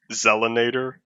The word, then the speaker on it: Zella Nader: your name I'm sorry the proper pronunciation is supposed to be Zella Nader but I've heard it